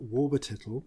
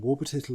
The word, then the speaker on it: Warlburltittle: Walter Wilbur Williker Warburtittle, and Warburtittle is spelt WARLBURLTITTLE. I did ask. Apparently 2 of the L's are silent.